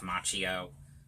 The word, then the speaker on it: Macchio: is the good classic original one with Ralph Macchio that's how you say his name and like